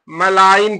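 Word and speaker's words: malign: जी silent हो गया यहां पर भी जी साइलेंट हो गया तो इसको क्या पढ़ेंगे मलाइन पढ़ेंगे मलाइन माने दुष्ट इसको क्या पढ़ेंगे बिनाइन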